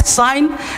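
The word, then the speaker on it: sign: जैसे जी साइलेंट है तो अब देखो अब यहाँ पे night, साइन, रिजाइन, rain, डिजाइन, अब इसको जी नेट नहीं पढ़ेंगे, रिजाइन नहीं, साइन, अब यहाँ पे साइन जी नहीं बोलेंगे, अब यहाँ पे रिजाइन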